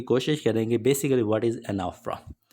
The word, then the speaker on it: Anaphora: Topic number 13 discuss करेंगे जी जिसका नाम है जी एनाफरा। कुछ लोग इसको प्रोनाउंस करते हैं एनाफोरा। बेसिकली इसकी जो रियल प्रोनंसिएशन है ना वो है एनाफरा।